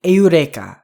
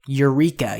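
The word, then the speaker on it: εὕρηκα: one that's screwed up this is the word aurea aurea notice I didn't say Eureka here so this comes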